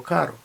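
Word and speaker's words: caro: увазі знову ж таки різниця в тому як ми вимовляємо звук R сильне R подвійне пишеться подвійною буквою або одинарне р карро і Каро лапарія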